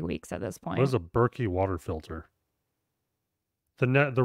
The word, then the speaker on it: Berkey: Reverse Osmosis System maybe I've never heard of berky and it's not Berkeley I am pronouncing it right B it's spelled on Google b r ke y okay uh it's probably